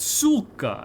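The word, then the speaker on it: сука: He was like everyone else goes like really hard on it but the pronunciation is actually supposed to be a little soft.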